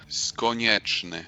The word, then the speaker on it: Skonieczny: Today I'm talking to Skonieczny. Did I pronounce that correctly? Yeah, close. How would you pronounce it? Skonieczny.